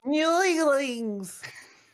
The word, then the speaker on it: Neolings: Go on, how do you say it? Neolings? Newlings!